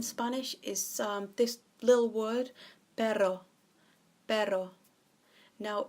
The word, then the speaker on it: pero: is this little word baro baro now if you can roll your ass on you double roll the RNA it will actually mean dog in Spanish so Pedro is dog but Baro is but now do you remember